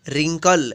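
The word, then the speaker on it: wrinkle: हुआ है डब्ल्यू आर आई एन के LED रिंकल BookMyShow Jharia डब्लू आदि DSC इस्ट के रिश्तों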